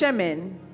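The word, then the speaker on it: shemen: revelation the word anointing here the word is pronounced shemin but it's spelled semen and so the revelation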